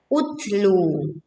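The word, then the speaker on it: اُتْلُ: Kenapa pada kalimat ini kita membacanya dengan hamzah wasol berbunyi o? Karena di sini hamzah wasol tidak satu paket dengan lam, kemudian huruf ketiganya adalah dhammah, maka dibaca utlu.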